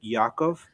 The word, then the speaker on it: Jakob: It's like the J, you pronounce it like a Y, so it's like Yakov. Oh, And Jakob, yeah. Okay. Yakov, and his last name is spelled Glesnes.